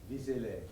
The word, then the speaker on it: Vézelay: Who knows if I'm pronouncing that one correctly? Do you get any word on that one? Vézelay.